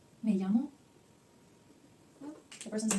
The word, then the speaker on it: llamo: And the person says, me llamo. Well, the person's name, in this case again, Sima. Okay? So, pay attention to this word. It's a double L in English, which we actually pronounce it like ye.